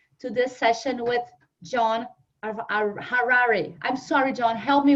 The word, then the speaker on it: Harari: this session with John Harari. I'm sorry, John, help me with the pronunciation of your name. It's like Ferrari, but with an H. Okay, like Harari.